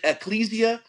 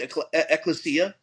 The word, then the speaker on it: ecclesia: He said ecclesia, or other pronunciation, ecclesia.